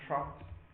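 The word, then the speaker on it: troughs: check the spelling because it's a word that uh doesn't sound like how you spell it so you have Peaks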